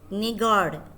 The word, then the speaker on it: নিগড়: উচ্চারণটা কি হবে? নিগড়। ডয়শূন্য র আছে কিন্তু।